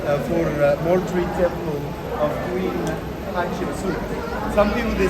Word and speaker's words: Hatshepsut: I made more shame, say hat, suit, but cheap one. Hat, cheap suit. I know it's will let you pronounce the name 100% right, but I know it's she. Queen Hatshepsut.